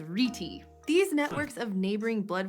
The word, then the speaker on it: rete: Incidentally, I saw this pronounced as rete and reet, so for this episode, we're gonna go with rete.